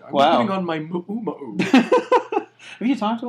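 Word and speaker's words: muumuu: So it's actually, if you talk to like a Hawaiian person, they actually pronounce it Ma'u-ma'u. Do they really? Yeah. Oh, wow. It's like ukulele. Ma'u-ma'u.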